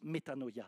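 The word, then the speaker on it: metanoia: d'un mot qui s'appelle qui se prononce méthanoia tu as déjà entendu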